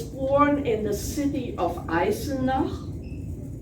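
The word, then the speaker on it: Eisenach: anything I was born in the city of isina it's spelled e-i-s-e-n-a-c-h and it's in the province of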